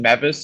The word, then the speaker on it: Mevis: And then for my kicker, I'm going to take Harrison Beavis of the Rams. You said what's his name? Harrison Beavis. You said Harrison Mevis or Beavis. Oh, or how Mevis, it's pronounced.